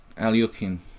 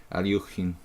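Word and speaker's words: Алехин: Alyokhin, right? Alyokhin. That's what I heard real, authentic Russian masters say. My friend from Leningrad, he says Alyokhin. I'm pretty sure that's relatively close.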